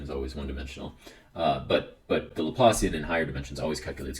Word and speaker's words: Laplacian: Some people will pronounce that Laplacian. I have a habit of doing that. It's the English getting the best of me. It's named after a Frenchman, so you shouldn't say that. It's named after Pierre Simon Laplace. So definitely pronounce it Laplacian. Yes, sound as French as you can when you pronounce that.